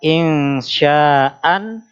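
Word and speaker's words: إنشاء: insya Nah di situ jadi kaidahnya berhenti pada huruf yang di fathatain dibaca fathah panjang tulisannya insyaan membacanya insya tapi ada pengecualiannya huruf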